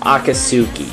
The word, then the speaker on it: Akatsuki: I actually think that's pronounced Akatsuki, so sorry if I mispronounce it again.